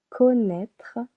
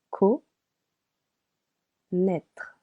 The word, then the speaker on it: connaître: In this case, connaître has two syllables. Co naître.